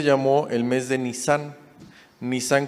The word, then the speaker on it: Nisán: Nisán con una S y acento en la A.